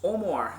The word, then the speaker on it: Amager: to Sweden, and I finally realised how to pronounce the name right. Thank you to Morten at Ølbutikken for telling me this. It's Amager, and this is Amager Bryghus, and we're going